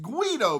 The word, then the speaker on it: Guido: It's your boy, the Guido, and that's pronounced Guido, by the way.